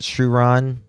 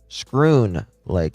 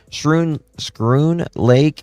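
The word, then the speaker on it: Schroon Lake: Is it Shuron? Pretty sure it is. Scroon Lake. I was very wrong on that. Scroon Lake, exit 20 from Lake George.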